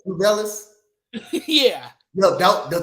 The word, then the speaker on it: Tubelis: And the other guy was to how you pronounce his last name? Tubelis.